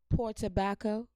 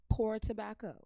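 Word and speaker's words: Port Tobacco: And for all my Virginians, do you see P-O-R-T-O-B-A-C-C-O? Poor tobacco. Poor tobacco.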